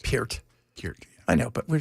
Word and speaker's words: Peart: I remember Peart. Neil. Oh, come on. That's not actually how it's pronounced. Peart.